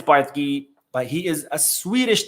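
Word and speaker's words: Bardghji: I Googled how they pronounce his name. I think it's Bartki, but he is a Swedish teenager.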